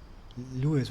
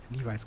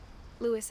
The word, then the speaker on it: Lewis: Wir waren jetzt im Zimmer von Lee, ich überlege, wie er, Lewis wird er, glaube ich, ausgesprochen. Ich hatte ja mal Levi's gesagt.